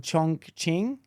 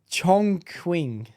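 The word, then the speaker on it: Chongqing: a Chinese city called chunk Ching chk you just made that up that's racist bro you said it wrong I said it wrong I'm sure you did wait it's chong quing chong oh Chong Queen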